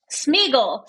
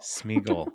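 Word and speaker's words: Sméagol: I don't know it it rhymes with eagle smeagle Smigel yes yes so his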